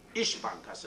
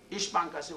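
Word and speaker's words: İş Bankası: but a little like s is pronounced like sh ish bankas this is biggest bank one of the biggest bank ish bankasi was saying that we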